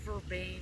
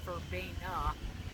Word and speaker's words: Verbaine: and everything and that was called that's called verban some people pronounce it verb well that's a little it grows wild it'll